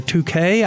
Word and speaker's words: Touche: In this segment, my guests are Terry Kefalver and Touche, or 2K, I guess is the way he said it pronounced, which I only found out tonight.